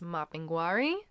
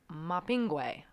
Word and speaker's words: Mapinguari: common than the other most commonly that you'll hear is mapinguari but I have also heard it been mopping way don't know where the